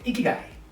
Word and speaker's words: ikigai: I want you to smile and I want you to lift up your cheeks and say Ikigai. That's how you pronounce it.